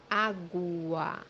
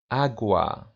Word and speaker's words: água: gu, When it's followed by the vowels OA or OA, it's pronounced as JW. The example that we have here is the word water, which means in Portuguese, água, água, as you see here, letter U or U in Portuguese is pronounced as W because it's followed by the light A or the light A, agua.